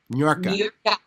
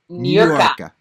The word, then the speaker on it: Niurka: James really worked on with me about pronouncing your name right. Niurka. Niurka.